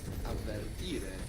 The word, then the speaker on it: avvertire: To warn in Italian is avvertire. Two V's. Avvertire.